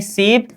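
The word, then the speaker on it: 십: बोलेंगे क्या सम बोलेंगे, 10 को क्या बोलेंगे सिप, 2 को बोलेंगे ए, उच्चारण सम, ठीक है सी।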